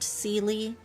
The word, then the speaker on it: Seelie: You know, I think Zila's name would be less confusing if we hadn't been exposed to the Seelie of Genshin, which are always pronounced Seelie.